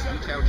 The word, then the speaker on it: Yichao: My name is Yichao. It's spelled YIH-CHAU.